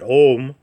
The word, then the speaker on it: Om: synonymous with Ganapati and the sacred Om, which we know is spelled A-U-Um or A-U-M, but we often see it spelled O-M, which we'll get into here when we talk about cultivating the Atmana.